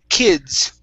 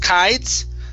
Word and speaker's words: kids: Next up is, let's see here, kids. Instead of kites, it's kids. Kids, many kids.